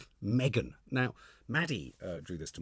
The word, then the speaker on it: M3GAN: And I think M3GAN stands for Model 3 Generative Android. So it's spelled M3GAN.